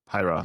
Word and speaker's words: Pyra: Pyra. Is it right? Did I say it like this? Pyra.